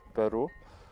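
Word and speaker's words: pwru: networking Packet Tracer called packet where are you or pronounced Peru the Tracer extracts the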